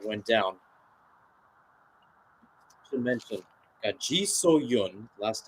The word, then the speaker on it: Ji So-yun: So-yun, Ji So-yun, I should say, that went down. Should mention, got Ji So-yun, last name spelled S-O-Y-U-N, and then Cho So-yun, last name spelled S-O-H-Y-U-N.